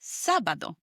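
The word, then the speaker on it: sábado: It's sabado. S A B A D O with an accent on the first a.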